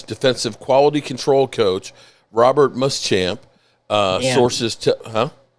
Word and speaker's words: Muschamp: Uh coaches, the Cowboys are hiring, uh Chargers defensive quality control coach, Robert Muschamp. Uh sources, Huh? Did I mispronounce it?